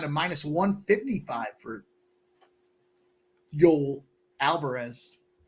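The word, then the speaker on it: Yoel: minus one 155 for Yol Alvarez I think it's Yol or Joel I'm gonna say Yol I would probably say Yol I said Joel but that's how it's spelled well they might be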